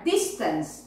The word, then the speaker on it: distance: The accent is there, distance, yes, okay? Then, spread, the virus will spread. This is the correct pronunciation.